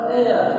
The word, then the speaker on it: heir: इसे heir नहीं बोलते हैं heir, तो heir बोलते हैं तो वह सिंहासन का उत्तराधिकारी है। तो यहाँ पर heir तो एस यहाँ पर भी साइलेंट है।